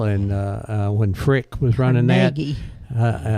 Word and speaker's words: Carnegie: You go to Carnegie Steel, and when Frick was running Carnegie. Carnegie, yes, you got to say it right, Carnegie Steel.